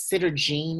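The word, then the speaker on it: Sederginne: Now this one's name is Sitter Jean. Is that the correct way to Yeah.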